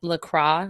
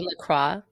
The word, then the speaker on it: La Croix: It's La Croix. That's how I say it. I think it is you right. Say La Croix.